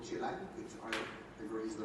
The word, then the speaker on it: Chile: know what it's like in what he called Chile, which I agree is the right way to